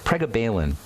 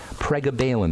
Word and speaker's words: pregabalin: about lria pregabalin PR how do you say prab Balin if you look at the word p r e g a ba you'll see Gaba in there prab Balin they call it but or prabin but